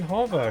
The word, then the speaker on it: hover: That's how Americans say it. They say hover. Hover. Like the O is pronounced a little bit weirdly. Like how like I would say hover, but they say hover. Like it's with a U instead of an O.